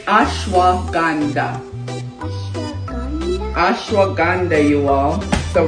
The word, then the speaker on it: ashwagandha: You know how to say that word? Shama grandma. How you say it? Shama grandma. It's ashwagandha.